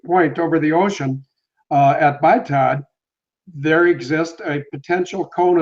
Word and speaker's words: BITOD: Okay, well, when Malaysia 370 was first hijacked electronically at BITOD, it's pronounced BITOD, BITOD.